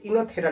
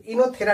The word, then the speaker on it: Oenothera: अब मोनोस्पोरिक में 2 टाइप आते हैं, एक आपको आते हैं पॉलीगोनम टाइप और दूसरा आते हैं इनोथेरा टाइप, वो साइलेंट है तो इनोथेरा टाइप आते हैं ना।